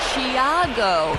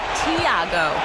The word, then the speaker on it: Tiago: But he says the pronunciation of his first name is closer to Thiago, not Tiago.